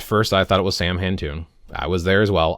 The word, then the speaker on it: Samhain: For example, if you're saying, well, I do Samhain on October 31st, even though traditionally it's pronounced sah-win, it's done on November 1st.